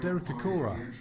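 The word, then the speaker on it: Derek Acorah: and failed actress and Derek Aora, even though they spelled his name wrong. It's uh a C O R A H. So, they put the H in the wrong place here.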